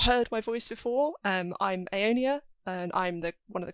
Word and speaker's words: Aonia: the first question is, how do you pronounce Orael and Aonia? Like that.